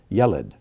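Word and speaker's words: ילד: And this is another word where the accent comes on the first syllable.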